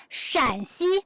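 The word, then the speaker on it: 陕西: So shan, shan, shan, shan. Shanxi, the first accent, is that province. Shanxi, the third accent, is this province.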